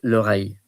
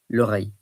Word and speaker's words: oreille: So the ear is l'oreille, OREILLE, l'oreille.